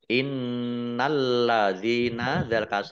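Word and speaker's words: إِنَّ الَّذِينَ: huruf lam ada tasydidnya lamnya dibaca dobel innalladzina Ya Sukun Mad thobii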